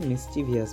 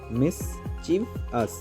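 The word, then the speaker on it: mischievous: word হচ্ছে মিস্টিভাস মিসভিয়াস আমরা এটাকে প্রায়ই ভুল উচ্চারণ করে থাকি মিস্টিভিয়াস বলি আসল উচ্চারণ হবে মিসভস মিসভাস ঠিক আছে তেমনি আরেকটা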